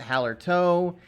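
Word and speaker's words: Hallertau: fourth Noble hop is Hower toow some people pronounce it Hower toe um whatever you know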